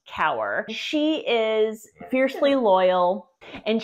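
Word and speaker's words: Kaur: spelled k Aur but it's pronounced cower she is fiercely loyal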